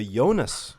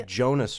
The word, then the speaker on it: Jonas: How about the Jonas Brothers? I'm sorry, the Jonas Brothers. Oh, I pronounced it as a soft J.